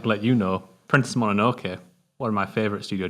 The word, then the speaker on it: Mononoke: I can never pronounce that. Mononoke. Thank you.